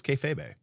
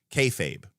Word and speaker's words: kayfabe: Oh, it's just two syllables. I thought it was kayfabe. Kayfabe. Okay. Anyways, kayfabe apparently is how it's pronounced.